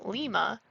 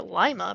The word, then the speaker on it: Lima: Patrick G good who insisted on the Spanish pronunciation Lima after the capital of Peru but the local vernacular Lima prevailed he honored Lima Peru